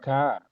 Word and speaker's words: car: is car. The pronunciation of car in the example it say car. Yeah, because it is British. In British, they don't pronounce the R.